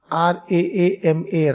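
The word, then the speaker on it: राम: Here I have written in Hindi but how you pronounce Rama? R A... R A A M A Raama Kripaa Somebody writes K R U P A A somebody K R I whatever.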